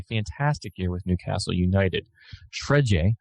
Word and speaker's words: Fred: Shredje, I think is kind of how it's said there in Brazil, but Fred for Manchester United gets in the squad.